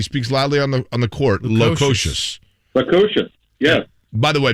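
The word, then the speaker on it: Lukošius: Do we really see something special between Labas Lukosius?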